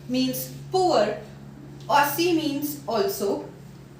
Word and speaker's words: aussi: D is not pronounced because in French language the last consonant of any word is not pronounced. So, show. Pauvre. Pauvre. Aussie. Aussie.